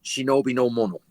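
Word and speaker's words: 忍びの者: The word ninja is actually 2 ideograms in Japanese, which are pronounced correctly, shinobi no mono.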